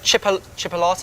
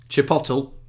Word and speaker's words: chipotle: this uh jalapeno jalapeno right used to make chipolates is that what that says Chipotle no honestly that is how I would pronounce it Chipotle and Charlie's always like it's Chipotle you sure